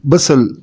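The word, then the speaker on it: bustle: हसल एंड बसल, टी is silent in both words.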